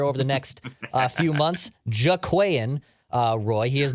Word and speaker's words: Jaquelin Roy: it I'm sure over the next few months jaquian uh Roy he is not related to the Roy family